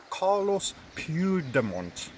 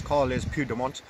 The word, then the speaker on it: Carles Puigdemont: Carlos Puigdemont. Now that pronunciation is almost certainly wrong, but I'll try once again. Carles, because it's a L-E-S, Carles Puigdemont, the president of the